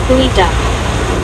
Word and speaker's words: geoduck: It is pronounced Pooey Duck.